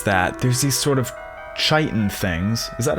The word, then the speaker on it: chitin: So to fix that, there's these sort of chitin things. Is that how you pronounce that? Siri, how do you pronounce chitin? It's on the web for how do you pronounce chiton. Check it out. It's not Chadon, bro.